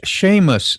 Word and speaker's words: Seamus: Seamus is pronounced Sheamus.